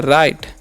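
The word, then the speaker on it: right: word की तरफ तो लिखा हुआ यहां पर आर इस पढ़ते हैं राइट ठीक है जी एस साइलेंट होता है राइट नाउ इसका मतलब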